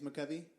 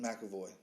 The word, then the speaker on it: McAvoy: And then then they go back, and then it's James McCovey? James comes in? McAvoy.